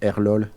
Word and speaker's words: Arlol: Prior to me, it was probably, I don't know how to pronounce that in English. In French, it's Arlol. Arlol, yeah, I remember Arlol.